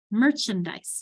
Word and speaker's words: merchandise: Merchandise. Now notice how this becomes chun. This because merchandise, my accents here.